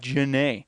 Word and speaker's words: Genest: owner is called pete jennae uh but his real last name is why'd you pronounce the bullish name he told me that genest is an assumed name and it's pronounced janae yeah janae yeah and his real